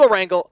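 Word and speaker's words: Erangel: Tom we are going all the way to a wrangle for the final two you actually said it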